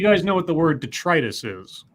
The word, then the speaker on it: detritus: of stuff so I I understood the word to be pronounced detritus and I had an ex-girlfriend who called it d'etre tiss and the first time